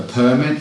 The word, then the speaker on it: permit: So notice, permit with the stress on the first syllable is a noun. Permit with the stress on the second syllable is a verb.